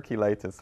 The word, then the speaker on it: cheilitis: a type of eczema I think it's called chelitis chelitis yeah that's correct you think I said it right yeah you said it right okay let's see good morning Dr listen pronounce it differently no I bet it's is it completely different from how I said it well I prefer kitis that is listen from